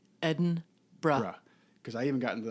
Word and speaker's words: Edinburgh: know, you fly into Edinburgh, which we tech talk taught us how to pronounce it. So it reads like Edinburg, but it's Edinburgh. Edinburgh.